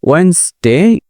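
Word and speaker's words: Wednesday: এখানে সেট মানে হচ্ছে স্যাটারডে শনিবার, সানডে রবিবার, মানডে সোমবার, টিউসডে মঙ্গলবার, ওয়েডনেসডে এটা উচ্চারণ হবে ওয়েডনেসডে বুধবার, থার্সডে বৃহস্পতিবার, ফ্রাইডে শুক্রবার।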